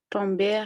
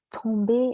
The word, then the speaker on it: tomber: Oui, juste la même chose pour entrer, rentrer, tomber, rester, aller. C'est la même chose. Il n'y a pas de R dans le ER. On ne prononce pas le R.